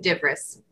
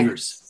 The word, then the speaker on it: Devers: It's Devers. Very phonetic, Devers. Just like it's spelled.